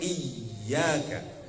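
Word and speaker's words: إِيَّاكَ: Artinya harus double hurufnya 2 harokat iyyaka. Lalu kalau ada huruf wawu dan huruf ya yang di atasnya ada tanda tasydid, maka bacanya itu harus dihentak Bu.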